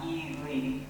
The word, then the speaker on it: Ely: He grew up in Ely, pronounced Ely, Nevada, Harday, and works at